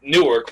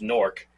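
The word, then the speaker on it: Newark: like a like a well nework but I think it's technically supposed to be pronounced norc whatever the hell like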